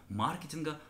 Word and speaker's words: маркетинг: С другой стороны, все, что касается маркетинга, отмечу, что современные орфоэпические словари все-таки настаивают именно на этой форме «маркетинг». Здесь мы вроде бы должны произносить это слово на английский манер, или, допустим, тот же самый мерчендайзер.